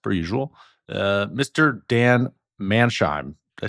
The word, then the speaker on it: Manshaem: a special guest per usual uh Mr Dan Manheim did I say your last name right manam but um I've been hearing it butchered for many many years so you did